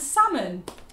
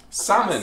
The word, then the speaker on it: salmon: And salmon. Salmon, yeah, not salmon.